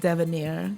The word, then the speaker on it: Devenaire: I'm sitting here right now with a young gentleman who goes by the name of Devenaire. Did I pronounce it right? You did. You pronounced it right.